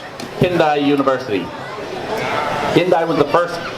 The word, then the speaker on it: Kinki: a famous university called Kindai University. Kindai was the first research. Not today. The Kinki University, as it's more correctly pronounced, has been a leader in fish farming for over 40 years.